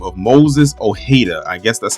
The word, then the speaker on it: Ojeda: So, in this picture, you see an individual by the name of Moses O'hada. I guess that's how you pronounce his last name. I'm assuming that the J is silent.